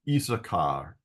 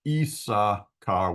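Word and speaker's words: Issachar: isar by the way there are two s's in the name esar and they according to the like the uh vowels here they should both be pronounced but they're not pronounced it's usually isaar Isa car with One S um if it was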